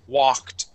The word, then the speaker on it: walked: The word is walked. Walked. Okay, one more time. Walked. Walked. Excellent. Okay, now remember, class, this L in the word walk is silent.